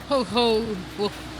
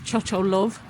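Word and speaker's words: Chochołów: Looking at how it's written, I would have pronounced it Cho Love, but apparently that's completely wrong.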